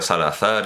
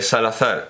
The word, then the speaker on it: Salazar: español y por iberismo lo voy a voy a pronunciar salazar y no salazar el dictador portugués que